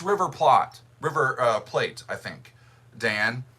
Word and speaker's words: Plate: Yeah, I actually looked it up because that's in Buenos Aires, Argentina, and I wanted to know, do they pronounce it like plate or plot or plate?